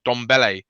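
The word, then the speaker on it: Ndombele: name is don bullet dombele you don't pronounce the n it's just pronounced don belle because it's a silent n and the i think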